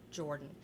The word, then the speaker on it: Jordan: Like I said, Jennifer Jordan it's pronounced Jordan, but when you do the search, that's not what you do, is it's a generic name.